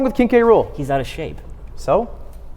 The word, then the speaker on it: K. Rool: King K. Rool is not cool. For one, It literally rhymes with cool.